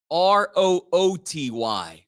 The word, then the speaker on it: Rooty: name officially is spelled r-o-o-t-y like like the root beer rooty the great root bear